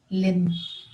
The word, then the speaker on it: limb: leg of a person or a four-legged animal limb the boy broke his limb when he fell